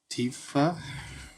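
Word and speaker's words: Tifa: Okay, how do you pronounce the main girl in Final Fantasy VII? The other one. Tiffa.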